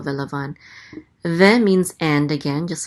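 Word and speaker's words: וְלָבָן: So velavan, accent on the last syllable, velavan.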